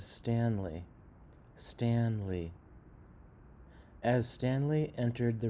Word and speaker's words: Stanley: Rock Room you're kind of pronouncing this word as stally but the word is Stanley Stanley as Stanley entered